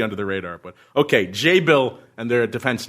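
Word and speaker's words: Jabil: pronunciation I said before jabble he said it's Act jabble is a tech name and it's actually pronounced J Bill and they pronounce they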